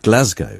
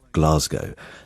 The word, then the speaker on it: Glasgow: and had been told emphatically it should be pronounced Glasgow, so I told him I would look into it. And the BBC's own advice is that it is Glasgow.